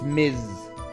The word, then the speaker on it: Ms: It's not Miss, it's Ms. I've been saying that wrong the entire time. I'd like to apologize. I take great pride in proper pronunciations, and I'm flabbergasted that I just now noticed that that was the wrong pronunciation of that abbreviation, MS.